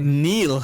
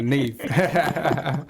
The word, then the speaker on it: Niamh: Am I pronouncing that right? Yeah, it's Niamh. It's a difficult one to pronounce. No, fantastic. Niamh. I thought Neil. Oh. No, Niamh. Fantastic.